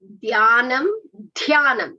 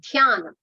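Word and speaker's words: ध्यानम्: So when you are saying dhyanam, it should be dhyanam. It's not dhyana. Dhyanam.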